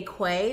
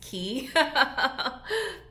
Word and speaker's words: Quay: has key on it i always want to say quay because it's spelled q-u-a-y but i know the proper pronunciation is key but get into these